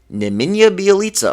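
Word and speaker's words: Nemanja Bjelica: let me just look it up right now neminya bialitsa oh my gosh i said it right i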